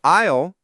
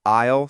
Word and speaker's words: aisle: And the pronunciation of isle is key here. As we mentioned, it's the S is completely silent. So, isle seat.